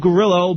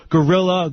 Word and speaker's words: Grillo: And uh for those of you who don't know me, my name is Gerillo, but uh my name my last name has been bastardized over the years to Gorilla.